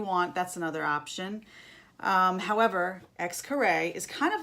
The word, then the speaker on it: Xcaret: So some things that you can do when you're in Cancun are my favorite, Xcaret. It looks like this. Xcaret.